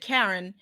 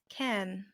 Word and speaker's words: cairn: You said what I would pronounce a stone cairn, but you said Karen, and I was like, a stone cairn?